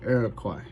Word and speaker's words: Iroquois: The Iroquois Nation, the word sounds like it pronounced different, but it's traditionally pronounced Iroquois.